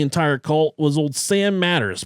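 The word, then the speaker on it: Mathers: cult was old Sam Matters, pronounced like spelled like Marshall Matters.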